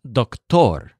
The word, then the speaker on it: doctor: English word doctor but it's pronounced duck-tor so you stressed tor because he tore the teddy bear meanwhile the Amol